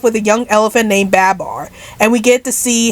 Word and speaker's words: Babar: so you're telling me it's Babar not bubar well sorry Babar I mispronounced